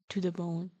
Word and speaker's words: Tudabone: Yeah, he has a pun as a name. It's he's Brad to the bone.